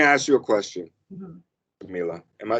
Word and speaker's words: Camila: Camila. Am I saying it right, Hmm. Camila?